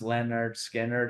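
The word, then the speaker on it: Lynyrd Skynyrd: And it was on their pronounced Leonard Skinner album.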